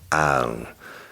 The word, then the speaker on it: Ione: It's spelled L-O-N-E, but it's pronounced Ione, California.